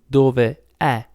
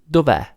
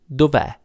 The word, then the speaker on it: dov'è: of this one, and we put an apostrophe instead to remind ourselves that there should be a letter there, but we don't pronounce it and we don't write it either.